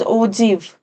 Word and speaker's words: ogive: Its pronunciation is ogive.